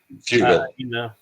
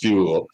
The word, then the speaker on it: Fugal: And so I'm like, yeah, Frugal. you guys are. He's not frugal at all. But, oh, did I mispronounce his name? Yeah, you said frugal with the R. It's fugal.